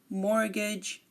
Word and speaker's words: mortgage: um some common ones are as Asma Christmas mortgage and soften again Asma Christmas mortgage soften we are not pronouncing the T in any of these words